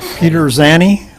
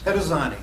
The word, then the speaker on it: Pettazzani: Peterzani? Close enough. How, did I come close? Petazzani. Pettazzani, okay.